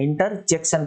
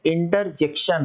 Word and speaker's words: interjection: जे के बाद ई है, इंटरजेक्शन है, इंटरजंक्शन नहीं है, इंटरजेक्शन है।